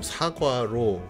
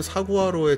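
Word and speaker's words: saguaro: 보이지 않네요이 사과로 선인장이 뭐 사과로 혹은 사화로 이렇게 발음이 되기도 하는데 정확히는 사구로 좀 가깝다고 하더라고요 저도 이거는 스페인어라고 자신은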